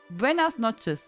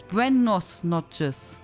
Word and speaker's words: buenas noches: Noche is feminine gender. I always thought it's buenos noches. I always thought it's like that. I always said it wrong. It always sounds like buenos noches.